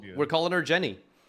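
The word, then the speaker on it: Genni: And it's spelled with a G. It's just G ne Jenny.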